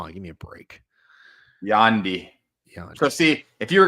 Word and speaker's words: Yandy: Yandy. So see, if you were going to help him spell that, B. Kelly, it would be like YAWNDEE.